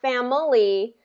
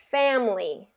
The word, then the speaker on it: family: let's do one more not family but family family perfect okay that's exactly